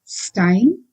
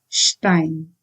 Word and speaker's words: Stein: Again, this is not Stein, it is Stein.